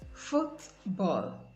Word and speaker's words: football: In compound nouns, nouns formed by merging two nouns together, you have the stress on the first noun. Examples: toothbrush, toothbrush, bookshop, bookshop, notebook, notebook, football, football.